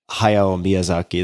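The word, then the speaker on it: Hayao Miyazaki: The first is an animated movie called Spirited Away by Hay Miazaki. That's how you would say his name in English.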